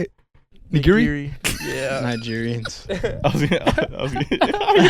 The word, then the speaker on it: nigiri: I like Nigeria better, though. I love Nigerians, too. I love Nigeria. How do you say it? Nigiri.